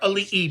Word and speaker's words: ali'i: like to use the word ali which is spelled a l i okina i which some people call the comma in between the two eyes but we call it okina um the word ali'i means king so we